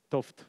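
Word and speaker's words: 't Hooft: In high energy physics, you call it, I never know, T-Hooft, what is the right pronunciation of the, you know, the Nobel Prize, Tuft, okay, that's the right pronunciation, okay.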